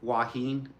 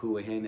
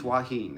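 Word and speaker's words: Hua Hin: willing to go like waheen otherwise you hear people online call it huahin it's not who it's waheen waheen so you'll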